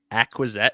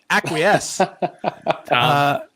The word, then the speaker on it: acquiesce: on that word choice acquiset aquizesque what oh that's not that's not how you say it acquiesce you amaze me every